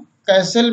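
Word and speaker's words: castle: टी कब silent रहती है? देखें, कैसल मीन्स किला, लिसन मीन्स सुनना, ऑफन मीन्स अक्सर, सॉफन मीन्स कोमल, विशल मीन्स सीटी बजाना, बाज मीन्स घड़ी।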